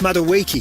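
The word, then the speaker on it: Madueke: Ani Maduiki. It's pronounced Maduiki.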